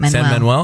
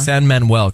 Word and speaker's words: San Manuel: San Manuel, is that how you say it? Okay, Manuel. San Manuel Casino.